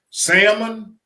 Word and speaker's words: salmon: Salmon, rice, and collard greens. Salmon. A salmon. The L is silent.